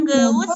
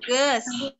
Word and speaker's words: geus: Ini bacanya bukan geus ya, tapi ges.